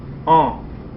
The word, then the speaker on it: an: 13 now a couple notes the word for year oh refuse me oh nasal oh okay don't pronounce the N it's nasal oh it's a masculine now